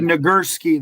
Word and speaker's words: Nagurski: He's Chris got the said Nagurski.